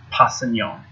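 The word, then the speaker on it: Kpassagnon: Passignon. The K is silent.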